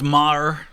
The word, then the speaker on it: Meagher: Thomas Francis Meagher, on July 1st, So it's Meagher is how that's pronounced.